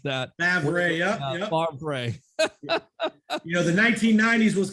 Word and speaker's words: Favre: Remember, Brett Favre was a draft pick of the Atlanta Falcons originally.